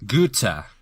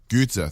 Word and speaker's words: Goethe: of the story of Faust by can you pronounce the dude's name I can Goethe Goethe thank you I'm German and I can't pronounce